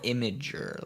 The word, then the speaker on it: Imgur: I thought it was like a oh my god thing, like a Oh no, Imgur is like a image hosting website. Imager, like that.